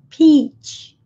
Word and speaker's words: peach: Em inglês, o CH é explosivo, peach. Peach, como na palavra tchau.